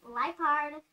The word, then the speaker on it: Liepard: Lipard. It's like a leopard, but a Lipard.